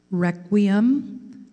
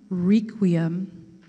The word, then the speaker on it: requiem: Your word has three pronunciations, requiem, requiem, requiem.